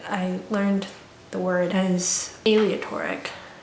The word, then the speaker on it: aleatory: learned the word and aleatory not alia toric aleatory not aleatory so what is going